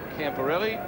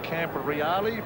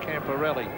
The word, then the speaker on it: Camporelli: That is the preferred pronunciation that he likes, Camporelli, not other versions. He says it's different back in Italy, but that's the Aussie one that he likes. Yes, the Italians would say Camporelli, but he wants to be called Camporelli.